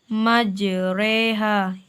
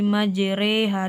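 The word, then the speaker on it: مجراها: surat hud ayat 21 yaitu pada lafazh majreha di sini tertulis majroha kita memiringkan bacanya menjadi majreha di sini ada Kak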